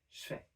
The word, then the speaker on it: je fais: So what we do instead is just devoice the j and make it into a sh sound. And so instead of je fais, you would say je fais.